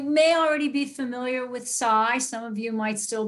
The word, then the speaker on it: SAI: still be calling us Sai and and a year ago we made the transition to Psy which is actually the way in which it's pronounced in in Europe so it's cut down